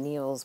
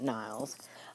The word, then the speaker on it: Niels: and to correct myself I do believe he pronounced his name Niels Bohr not Niles but basically we know